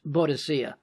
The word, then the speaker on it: Boadicea: First, modern pronunciation of her name is Boadicea, and that may not even have been her name.